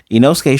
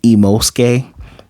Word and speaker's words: Inosuke: The funny part is Inosuke showed up first and was teaching her how to say his name, and she was saying Imosuke.